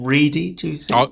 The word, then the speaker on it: Ready: can help me here i'm guessing the actor's name is pronounced his surname is ready rather than ready which is what it looks like paul reedy i would have said